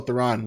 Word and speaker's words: Theron: Oh, Theron.